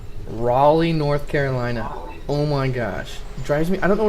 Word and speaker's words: Raleigh: when i read it i read um rally like i can understand the name rally that's how i pronounce it i thought that's how it was pronounced because being from oklahoma i never hear anyone say riley north carolina so whenever i read